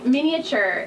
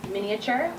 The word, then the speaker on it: miniature: pronounce it two ways you can pronounce it with the a miniature I've heard people say miniature both ways are correct the etymology of the